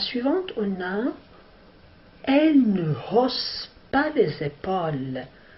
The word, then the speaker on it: hausse: La phrase suivante, on a elle ne hausse pas les épaules. Alors maintenant, on entend la lettre H. C'est une lettre aspirée.